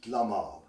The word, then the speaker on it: Delamere: For example, Delamere is pronounced Dlamar.